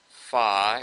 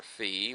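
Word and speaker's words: phi: rotate an additional angle fi or Fe whichever way you want to pronounce that by just the the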